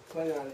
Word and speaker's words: Klingon: So in my mind, the correct way to pronounce Klingon is the way I say it, or the way Christopher Lloyd says it, because he was first.